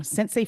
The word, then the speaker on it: Centsei: We've got Dan and Kay Ockey from Centsei Financial. Did I pronounce that correctly? Yes, you did. All of it. Perfect. Yeah, that's good. Yeah, we got that right. Is that a play off of like the Japanese word sensei?